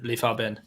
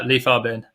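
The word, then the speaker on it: Li Fabin: leaf uh so it's a correction on your pronunciation oh instead of leaf leaf bin okay that's that's the type of correction that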